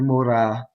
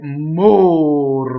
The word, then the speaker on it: mora: solo so qui more Mora and the accent is on the anti penultimate right Mora Mora and it's a closed though in a stress position you know shooting away